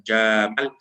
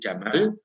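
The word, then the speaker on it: جمل: Yang ketiga maknanya dirujukan kepada unta, ya, karena nanti ada Jamal yang tidak panjang bacanya, Jamal, bukan Jamal, tapi Jamal adalah camel.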